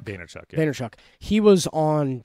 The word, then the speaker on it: Vaynerchuk: And then VaynerMedia, you pronounce the last name Vaynerchuk? Vaynerchuk, yeah.